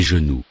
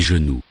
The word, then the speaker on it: genoux: Des genoux. Des genoux. For plural, add the ending, X. but it is not pronounced. Des genoux.